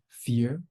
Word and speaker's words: FYEAR: isn't straightforward um but people have been saying F year um fear I usually emphasize the why fear um I think Jason might have a different approach I pronounce it fear but I love fire that